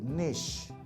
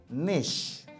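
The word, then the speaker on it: niche: অনেক সময় বলে থাকি নিশ কোন ভাবে কিন্তু নিচ না শব্দটা হচ্ছে নিশ খেয়াল রাখেন অনেক সময়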